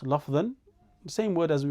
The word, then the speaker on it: لفظا: This change that happens at the end of the words can either be pronounced lafdhan, the same word as we mentioned at the start of al-Kalam, huwa lafdhu, right?